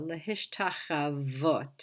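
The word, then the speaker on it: להשתחוות: and the tav, lehishtacha, and as we see the hey at the end, we get the vav, but it's the vav, it's a consonantal vav with the o, lehishtachavot, it's pronounced.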